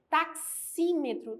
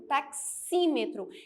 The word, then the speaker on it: taxímetro: fonemas por quê Porque ao pronunciar o x Eu tenho um som de duas letras taxímetro ok nós temos